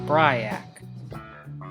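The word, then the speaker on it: BRYAC: the answer might be an acronym pronounced Bry ack located on fairfield ave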